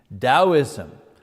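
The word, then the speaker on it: Taoism: first of which is dosm you know you pronounce the T like a D dosm um uh that comes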